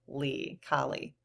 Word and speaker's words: Kali: But I have a pronunciation here, K-A-H, Kali.